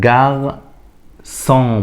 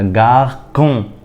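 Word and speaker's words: garçon: لا ينطق هنيجي للي بعديها جاغ سون ما ينفعش اقولها جا كون خطا جغسون تاني جغسون اللي بعديها دا سو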